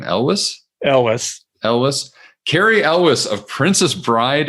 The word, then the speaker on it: Elwes: How do you pronounce his last name? Elwes.